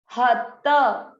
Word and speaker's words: हतः: हत हत, यहाँ पर है विसर्ग, तम अ की मात्रा है इसलिए विसर्ग को पढ़ेंगे ह हतः।